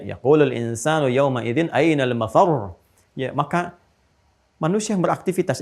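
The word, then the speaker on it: مَفَرّ: Mafar ada tasdidnya tuh. Ya, ainal mafar. Ada tasdidnya, makanya bacanya juga bukan mafar. Awas. Ya, bukan mafar.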